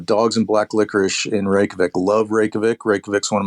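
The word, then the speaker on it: Reykjavík: You roll your R if you want to pronounce it right. Reykjavik.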